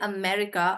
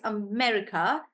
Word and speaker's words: America: is why be very careful not to say America. It's not America, it's America. America. And because it has the short e sound.